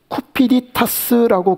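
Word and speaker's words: cupiditas: 그냥 헬라어에는 그냥 이 총명이 카르디아 그렇게 쓰는데 라틴어로 어떻게 얘기를 하느냐면 쿠피디타스라고 그렇게 발음을 해요.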